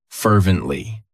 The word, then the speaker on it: fervently: Fervently. It has 3 syllables, and the stress is on that first syllable.